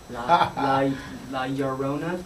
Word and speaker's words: La Llorona: La Llorona?